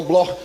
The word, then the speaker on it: Bloch: Se escreve Bloch, mas se pronuncia no alemão Bloch, judeus alemães.